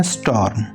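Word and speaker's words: storm: उसको हम कहते हैं स्टॉर्म स्टॉर्म तो आर को यहां पे कम से कम प्रोनाउंस करना है स्टॉर्म स्टॉर्म तो इस तरह आप इसे प्रोनाउंस कर सकते हैं साथ-साथ अपनी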